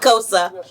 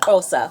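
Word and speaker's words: Xhosa: como se so cosa is an African language where you speak with a click so that's what he just did they spell it a X cosa like cosa isn't that amazing I was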